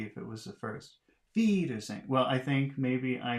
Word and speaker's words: Wiedersehen: 45, It says it's the second one. That would be Wiedersehen. Wiedersehen. I guess. How would it be if it was the first? Wiedersehen.